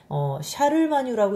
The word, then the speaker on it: 샤를마뉴: 이거는 이제 발음하기 나름인데 어느 지역마다 카롤루스라고 읽기도 하고 샤를마뉴라고 읽기도 하고 그냥 읽기 방법의 차이예요.